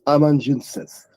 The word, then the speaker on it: amanuensis: So it looks like it's pronounced amanuensis, amanuensis.